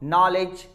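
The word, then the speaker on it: knowledge: When it comes before n, n के पहले आता है तो खे साइलेंट होता है। सब जानते भी हैं इस चीज को, नॉलेज, नाइफ, नो, नॉक, नी, के बाद में एन आता है तो हम के को साइलेंट रखते हैं।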